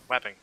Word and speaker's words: Wapping: And Andrew, correct me if I'm wrong, if I'm pronouncing it wrong. It's Wapping? Wapping.